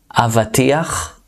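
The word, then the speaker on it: אבטיח: Avatiach, watermelon. That's a bit hard to pronounce. It has the ch sound there.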